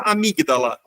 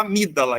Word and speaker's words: amígdala: o g mudo tá a gente não fala amígdala a gente fala amídala esse gele não é pronunciado mas a gente tanto